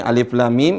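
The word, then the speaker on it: الٓمٓ: Cara bacanya adalah dibaca hurufnya. Alif. Kemudian berikutnya lam, mim. Lam, mim. Nah, perhatikan. Nah, ini dibaca dengan lam. Lamnya dibaca berapa? La-nya, kalimat la ini dibaca berapa? 6 harokat.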